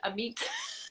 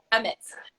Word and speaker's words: Emmett: I always pronounced it Amit. it's, Emmett. Okay.